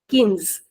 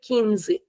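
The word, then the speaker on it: quinze: 15 is kins. Kins. Again please remember that it is not qui. It doesn't have a sound of qui. It is ki. Simple kimatra. Kins. And in Brazilian we'll say kini.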